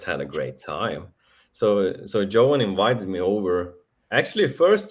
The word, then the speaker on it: Johan: Johan is perfect.